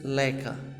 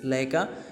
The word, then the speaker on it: Laika: जिसका नाम था स्टूडेंट्स लाइका। क्या स्टूडेंट्स? लाइका। लेकिन बहुत सारे स्टूडेंट्स इसको गलत प्रोनाउंसिएशंस करते हैं, लइका बोलते हैं। तो स्टूडेंट्स ये लइका नहीं होता है, लाइका होता है स्टूडेंट्स, ठीक है।